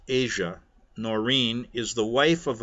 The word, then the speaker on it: Asia: jun 19 2009 now her name asea is pronounced Asia norine is the wife of a 50 year old name mr.